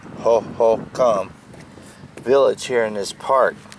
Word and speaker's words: Hohokam: found a village of the Hohokam is pronounced ho-hum village here in this